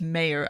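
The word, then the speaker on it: Meijer: has come out um representative mayer it's not meyer it's mayor i will learn how to pronounce it eventually but yes pete mayer had said that he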